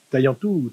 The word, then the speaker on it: Taillentou: alors on dit Taillantou, hein, Taillantou.